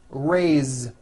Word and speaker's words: raised: let's do some verbs raised meaning like to raise my hand now this word is a bit unusual because even though it is spelled with an S it's pronounced with a voiced Z raised so we say